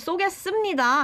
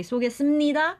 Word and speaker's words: 쏘겠습니다: Even though the last consonant is p, we don't actually pronounce it as p, but it's Sup. it becomes m sound.